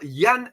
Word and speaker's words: Jan: person is our Mr Yan Eric vist okay because he's a Norwegian so Norwegian the Jan is pronounced as a yan yan erican all right